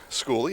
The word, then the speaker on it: Schooley: Schooley had a big game last week, as did brother Nathaniel Schooley, as we found out is his correct pronunciation.